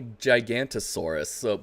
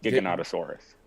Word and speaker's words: Giganotosaurus: We have I thought it was called a Gigantosaurus, but they call it Giganotosaurus. That is the correct pronunciation, yes. Giganotosaurus.